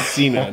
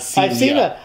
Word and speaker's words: Cena: It's Cena, not Cena.